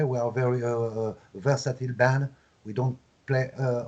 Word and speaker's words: Versatile: finally for this album you call it uh versailles uh i suppose it's a good pronunciation for french you know but versatile what do you want uh